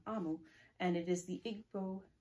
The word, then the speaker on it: Omu: And it's called Thank You, Omu. And it's by Ogie Mora. And I believe Ogie Mora does the pictures as well. Omu is pronounced Amu. Sorry, I said it wrong. Amu.